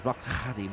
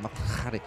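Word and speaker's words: Mokgalagadi: It's a sound that we don't do, and she said it to me about three or four times. Mokalagadi, Mokalagadi.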